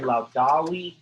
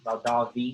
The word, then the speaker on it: laudavi: And so it's laudo, laudari, laudawi, laudavi, if I pronounce the V, it's the perfect stem.